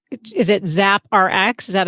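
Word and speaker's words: ZappRx: us into the store so it's is it zap rx is that how you pronounce it yeah yeah it stood for zoe's prescription app nice oh i like that there you go zap rx uh so you have the concept you're like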